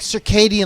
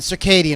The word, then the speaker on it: SERKEIDIAN: I'm thinking like circadian, like your circadian rhythms.